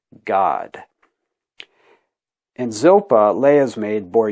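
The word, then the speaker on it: Gad: to us who read English but it's actually pronounced God and Zilpah Leah's maid bore Yaakov a second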